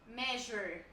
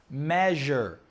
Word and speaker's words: measure: Natalie measure. Do a syllabus measure. Oh, that was good. Measure. Measury. Measure. Two syllables.